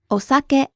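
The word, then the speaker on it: お酒: okay so how would we say alcohol osake osake now we have this word in english in english it's pronounced saki but it's important to know this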